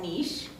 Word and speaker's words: niche: So N is finding your niche or niche. I used to pronounce it niche. I recently learned it's called niche.